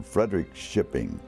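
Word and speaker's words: Fredrikskoping: his family was from Frederick shipping f-r-e-d-e-r-i-k-s-k-o-p-i-n-g Frederick shipping is the way they pronounced it my mother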